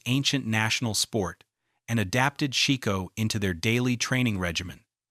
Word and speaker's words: shiko: This movement is called shiko, pronounced shiko, and it's the stability exercise that's been hiding in plain sight for 7 centuries.